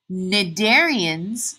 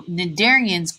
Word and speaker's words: cnidarians: these porifera are sponges cnidarians the C is silent so cnidarians are jellyfish and coral